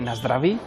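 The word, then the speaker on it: na zdraví: s decir osasuna aquí Cómo se dice aquí se dice nasd dravi y lo importante es mirarse los ojos nasd dravi nasra es este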